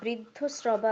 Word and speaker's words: বৃদ্ধশ্রবা: আচ্ছা স্যার, এখানে যেটা বৃদ্ধ শ্রবা আছে ওটা কি ব্রিয়ের জায়গায় ব্রু ব্রু উচ্চারণ হবে? স্বস্তি ন ইন্দ্র বৃদ্ধশ্রবা ব্রি নয় ব্রু।